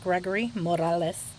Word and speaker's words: Gregory Morales: I'm going to pronounce that correctly for you guys since I'm Mexican. It's Gregory Morales.